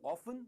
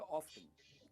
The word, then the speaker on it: often: सो ऑफन या ऑफ्टन कुछ भी कहिए, इट इज ओके।